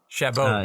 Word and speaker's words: Chabot: Mark Chabot. Chabot. His Chabot. Because he's French. Yeah, he's French.